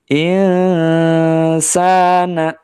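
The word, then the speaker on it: إنسان: yang diikuti huruf Sin hukum bacaannya adalah ikhfa ya samar yang tadinya bunyinya in jadinya in ya dengungkan di rongga hidung ya jangan sampai membacanya in atau ing ya huruf ng Eng gitu salah ya insana lafi ya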